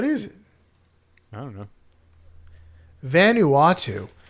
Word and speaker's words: Vanuatu: it I don't know Vanuatu see it helps if you don't say it completely wrong it says if you say it helps if you say it right it's a big Vol